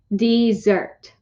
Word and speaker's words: Mount Desert: island called mount desert she pronounced it dessert or desert ice cream cookies brownies